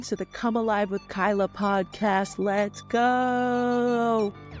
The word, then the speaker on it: Cuyla: right here right now I am Kyla I know the spelling is a little confusing but that is how you pronounce my name CUA Kyla I am a life